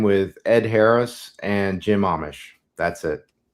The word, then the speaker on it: Amish: sorry is it is it pronounced Amish yes like the Dutch Amish like Amish okay